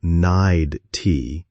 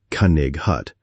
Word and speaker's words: knight: The word knight, K-N-I-G-H-T, I said Cunnig hut, and the kid laughed at me.